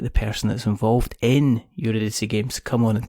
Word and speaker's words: Eurydice: And then you try and pronounce it and you go, well, it's Eurydice Games.